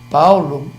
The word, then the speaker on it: Paulo: Paulo, né? Veja, você escreve com O no final e pronuncia-se como fosse U.